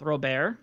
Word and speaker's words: Robert: Nick Madrigal and Luis Robert, who I believe is now pronounced Robert, supposedly, from TJ's stream.